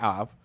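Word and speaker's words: אב: So the word for Hebrew, the word in Hebrew for Father is the word Abba or Av. It can be pronounced either way, Abba or Av.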